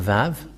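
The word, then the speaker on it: ו: So here is the letter Vav. The Vav. And this is the letter Vav. This is the Vav. The way to read this is V as in Vag.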